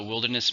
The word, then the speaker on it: wilderness: So wilderness means nature without any human civilization. It's a noun and uncountable. How many syllables? Wilderness. 3 syllables, stresses on the first.